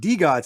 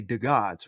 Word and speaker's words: DeGods: uh d gods he's like he's like it's pronounced d gods it's not pronounced because i always say the gods right you know mark's here because i finally